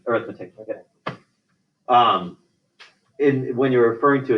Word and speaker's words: arithmetic: Wouldn't people call this arithmetic? Like some people call this arithmetic. Yeah, it's spelled the same way. Arithmetic.